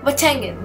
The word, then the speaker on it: Boateng: Oh, Boateng, that's how you pronounce the name.